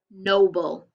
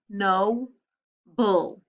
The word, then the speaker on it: noble: This was not a vowel consonant E word. It's a schwa. So the first syllable, no, is open. So we put a macaron over the O, and the second syllable is closed in, but the vowel sounds like a schwa.